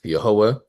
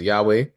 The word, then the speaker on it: Yehovah: And for the purposes of our Bible study, we pronounce it as Yehovah. Many people around the world pronounce God's name as Yahweh.